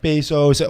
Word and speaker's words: Bezos: So if Jeff Bezos, all these, how do you say his name?